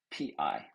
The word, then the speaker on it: pi: pi in english is p i but we pronounce it as p i e pi just as in apple pie which we can't help